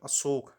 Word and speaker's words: अशोक: अब देखो, अशोक है, अशोका है, अशोका नहीं कहते, सही नाम अशोक ही होता है। कई बार इंग्लिश में बोलने के लिए जो ए शब्द है लास्ट में, उसको हम लोग प्रोनाउंस कर देते हैं, पर अशोक ही होगा, ठीक?